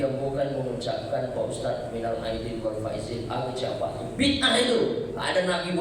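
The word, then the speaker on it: مِنَ الْعَائِدِينَ وَالْفَائِزِينَ: Tapi bacanya yang benar, karena ada pula sebagian bapak ibu saya dengar bacanya minal faizin wal faizin, apa itu? Yang betul lah bacanya, karena itu doa minal a'idin wal faizin.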